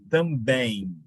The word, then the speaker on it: também: Na palavra também, em. Qual é o som que você usa ou ouve no final? É o I.